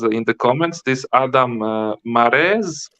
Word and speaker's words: Mares: the comments this Adam mares how do you pronounce it like like a horse like a man just like a horse rhymes with hair he was talking a